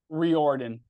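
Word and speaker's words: Riordan: at the RO how do you say it Roden clinic reordan reordan clinic yeah and tell us a little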